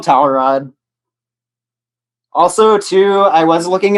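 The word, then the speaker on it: Cawrad: just named towel rod it's spelled differently it's spelled c-a-w r-a-d but uh yeah he's he's just called tower rod also too i was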